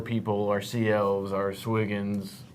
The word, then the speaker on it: Sahuagin: from, our mer people, our sea elves, our Swiggins. How do you say it? Sahuagin, I got it right.